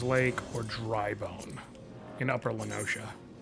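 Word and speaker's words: La Noscea: Next up is Bronze Lake or Drybone in Upper Lenoshia. It is pronounced Lenosho, right? Uh, you're absolutely right.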